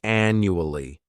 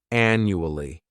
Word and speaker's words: annually: The first adverb is annually. This word has 4 syllables, and the stress is on that first syllable. The second syllable, it's like you're just saying that letter U. And the third syllable has that schwa, annually.